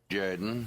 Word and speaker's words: Jordan: coach of the Auburn Tiger say no it's pronounced Jorden yes yes this is Jaden football coach of